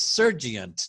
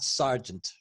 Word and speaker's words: sergeant: It's sergeant, not sergeant. Sergeant. Sergeant. Then Sergeant.